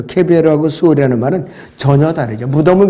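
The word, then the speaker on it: קֶבֶר: 그래서 욥이 말한 무덤 그레이브는 히브리어로 케벨이라는 발음으로 하고 이 수올이라는 것은 지하세계인데 영어 킹제임스 성경은 지옥으로 표현하고 있어요. 헬로. 그런데 히브리어로는 지하세계를 말해요. 수올. 근데 이 무덤하고 저 그레이브하고 저 케벨하고 수올이라는 말은 전혀 다르죠.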